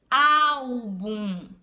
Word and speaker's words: álbum: Por exemplo, álbum. Né? O bum é a última sílaba. Só que o bum não é a mais forte. O mais forte é o au, né? Que é a penúltima, tá certo? Então, álbum, né, é uma paroxítona, ok?